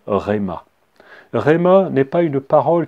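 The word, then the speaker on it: ῥῆμα: dire écrit en grec le mot parole se prononcent rema rayman est pas une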